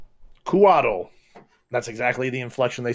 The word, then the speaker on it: Couatl: to what you saw, this could be a Kuatl, a winged serpent creature of celestial origins. That's spelled Couatl. Kuatl. Kuatl. That's exactly the inflection they say it on D&D Beyond. Kuatl.